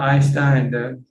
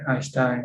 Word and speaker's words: Einstein: like this the this swinger yeah what about einstein the which one einstein e comes before the